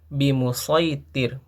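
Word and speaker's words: بمصيطر: Nah, tidak boleh kita merubahnya menjadi sin. Bimusitir. Nah, itu tidak boleh. Tapi harus bimusitir. Lastaai bimusitir. Nah, seperti itu bacanya. Tidak boleh dirubah menjadi huruf sin.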